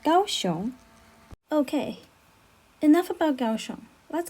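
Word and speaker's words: 高雄: is also a form of chinese characters is pronounced gaoshon okay enough about gaoshon let's get back to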